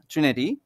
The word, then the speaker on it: Trenité: এই যে জেরার্ড নস্ট ট্রেনেটি এটা বলব আমরা তার নাম সো আমরা ট্রেনেটি বলতে পারি নো প্রবলেম জেরার্ড নষ্ট ট্রেনিটি সো